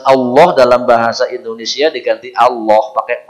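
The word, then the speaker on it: الله: Ya, bukan Allah itu bukan pakai o, Pak, bukan Allah, o bukan, tapi dia tebal Allah.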